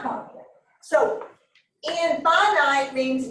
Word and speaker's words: infinite: a finite set and that looks like it's in finite but it's pronounced infinite all right a finite